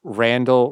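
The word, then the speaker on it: Randle: all the time listen Randall rhymes with handle remember that okay Rand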